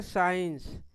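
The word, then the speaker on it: science: तो सी को हम नहीं पढ़ेंगे। तो इस वर्ड का उच्चारण क्या हो जाएगा? साइंस।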